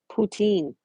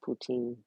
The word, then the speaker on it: poutine: Brown gravy on top of French fries pronounced poutine." It is pronounced poutine.